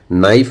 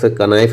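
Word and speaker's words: know: कनाइफ नहीं बोलते हैं नो आज से आप नो बोलेंगे है ना कना नहीं बोलेंगे या कनाइट नहीं बोलेंगे नाइट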